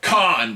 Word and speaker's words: Kane: Well, yeah, but it's meant to be pronounced like Khan, you know, like the actor James Khan. I mean, that's how it's pronounced Yeah, but in Japanese they don't have the letter L.